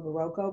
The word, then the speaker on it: Berroco: So berroco, I always wondered how you pronounce their name, if it was berroco or berroco, but I heard them saying berroco, gave out these little